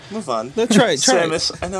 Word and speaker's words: Samus: Is that the Samos do that? Samos? That was one Samos. time I mispronounced. I'm not even going. Say to. it. Move on. No, try it. Samus.